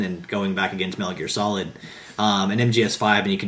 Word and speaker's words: Metal Gear Solid: It's pronounced Metal Gear Solid. Meta Gear Solid.